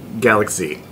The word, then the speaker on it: Galak-Z: it is it is it is pronounced Galaxy all right here we